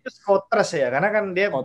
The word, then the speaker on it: Schoters: dari skuter ya bacanya gimana sih Bener ya bacanya skotras ya Karena kan dia mau berangkat sementara itu